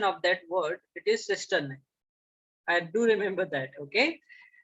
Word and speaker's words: cisternae: Okay, someone in last class also asked me about the pronunciation of that word. It is cisternae.